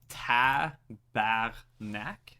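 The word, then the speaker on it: tabarnak: no idea it's a tapath Mac it's ta back neck so it's t a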